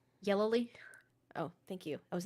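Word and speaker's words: Yelloly: Yellowly.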